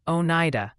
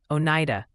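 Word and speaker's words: Oneida: New York action gently suggest it's pronounced Onida, Onida, and Interlaken.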